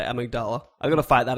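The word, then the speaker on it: Amygdala: it someone tweeting with some phonetic amdal it's amigdala but the part of your brain is the amigdala yeah well this is why it's very confusing to me so that's for the sake of the say amigdala I got to fight that again to get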